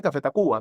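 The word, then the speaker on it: Café Tacvba: nombre porque como ves, Tacuba no se escribe con B, sino que la ves allí con la A. ¿Qué trao en la U en verde la U? Porque existe un café muy famoso, existía un café muy famoso y tenía los derechos, entonces no podía ser café Cuba y por eso tuvieron que cambiarle el nombre. Pero todo el mundo dice Cafeta Cuba, pero se escribe diferente, ¿no?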